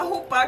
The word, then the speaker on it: chupá: Então a rupá, que se pronuncia rupá, né?